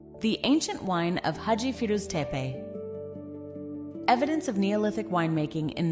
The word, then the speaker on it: Firuz Tepe: One of the most important pieces of evidence comes from an archaeological site known as Firuz Tepe, pronounced Firuz Tepe.